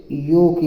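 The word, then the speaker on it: yolk: है और ओओ से यो की मात्रा होती है और ल साइलेंट रहेगा के लिया जाएगा तो के से क हो जाएगा योक है ना तो योक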